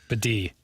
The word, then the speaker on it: Beatty: Bidet. You sure? Tyler Bidet. He said that's always how it's pronounced.